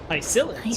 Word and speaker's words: Hycelens: If Lady Hycelens was still alive, Hycelens, I think she might be able to do that too. So that's how they pronounce that.